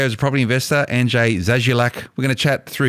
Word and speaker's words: Zazulak: Zazulak.